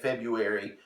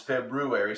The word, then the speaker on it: February: never say it right I always want to say febuary but it's not this February so how was your